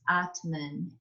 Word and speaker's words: atman: in this word here it's a long a the t and the m are joining together and that n doesn't have an a on the end atman so this is